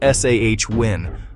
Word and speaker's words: Samhain: The festival of Samhain, pronounced Sah-win, marked this crucial transition.